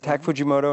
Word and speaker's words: Tak Fujimoto: Is that how you pronounce it? Tak Fujimoto and Christy Zia, yeah.